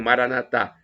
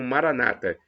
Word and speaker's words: Maranatá: Os católicos pronunciam Maranatá com a tônica na última sílaba. Nossos irmãos separados, os evangélicos ou protestantes, pronunciam Maranata com a tônica na penúltima sílaba.